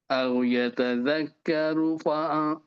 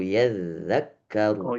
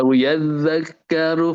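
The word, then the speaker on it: يَذَّكَّرُ: abasa wa tawalla an jaahul a'ma wama yudrika la'allahu yazakka yatakkaruakar oke diperhatikan Pakid Tujuan itu bacanya au yadzakkaru enggak ada. Iya. A yadzakkaru fatafaahudzikro.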